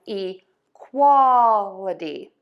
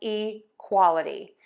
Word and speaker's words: equality: We're going to shift the stress to right before the a-dee ending. So it's going to be fertility and equality. So fertility and equality.